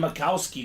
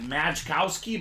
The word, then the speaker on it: Majkowski: Closer magic spot as well, Cody, on the Don Majkowski jersey. All right, looks like Majkowski, but it's pronounced Majkowski.